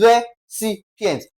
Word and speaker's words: recipients: Now, recipients. What part of this word will be stressed? It will become the what now? The c, c i, okay? That is re cients.